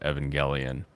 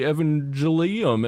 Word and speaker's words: Evangelion: Evangelion and I have canonical proof that it's pronounced Evangelion so uh his little ass